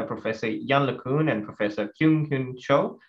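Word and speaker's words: Kyunghyun Cho: Yan LeCun and Professor Kyung Hyun Cho. Is that a correct pronunciation? We can correct me later. It's Kyung Hyun Cho, And has a master's degree in computer science from University of Massachusetts, Amherst.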